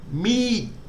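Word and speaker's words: มีด: And in this case, it's long, it's a long E. So low class initial consonant, dead syllable, long vowel gives us a falling tone. So we need to sort of tail off at the end of the word. So me, knife.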